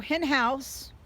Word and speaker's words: Henhaus: these are very very nice all right so in house now that i'm saying it correctly i apologize